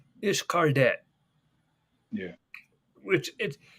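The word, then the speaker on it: Xcaret: right and we went to this place called ishqadet yeah which it it's pronounced it's cardet but it's really weird how it's spelled it's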